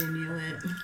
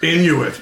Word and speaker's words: Inuit: I've studied Inuit. Oh, it's Inuit. Yes, it is. You thought she said I knew it? I knew it. No, I thought I'm pretty sure in French it's pronounced Inui. Okay.